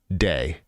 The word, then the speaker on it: Dag: amazing um let's see dag is my first name uh it's pronounced like the word oh like day like the word day okay so it's day okay thank you for